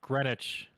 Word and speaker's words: Greenwich: grenwich greenwich granite greenwich why is there a w in there it's pronounced greenwich okay in 2013 she was